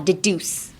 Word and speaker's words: deduce: While deduce. Deduce. Deduce. Oh, deduce. Don't elongate it that much.